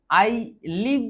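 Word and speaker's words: isle: হুম I live the স্কেপটার এন্ড দা আইল। দেখ এটাকে তুমি বলবে স্কেপটার। আর এটাকে বলবে আইল। উচ্চারণ সঠিক স্পেলিংগুলো একটু দেখে নেবে।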